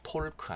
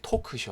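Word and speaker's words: talk: 잘 아시는 단어입니다 자 이렇게 l 발음이 안 돼요 톨 크 아니고요 포크 입니다 터크 우리 tv 에 토크쇼 아자의 토크쇼에 그 토크 입니다 이야기한 것 토크 어바웃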